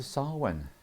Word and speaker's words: Samhain: And welcome to Samhain. It's spelt Samhain.